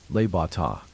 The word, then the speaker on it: Le Bon Temps: Tony suggested we all go to a little restaurant just slightly out of the area, called Le Bon Temps, pronounced Le Bata.